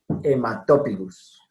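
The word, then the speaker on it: haematopygus: Bueno, la H nunca se pronuncia. Siempre muda. Para todas las ocasiones en que lo encuentren. En latín, veremos que hay otras situaciones, ¿cierto? Bueno, entonces en este caso, Blacorhynchus hematopigus. Hematopigus.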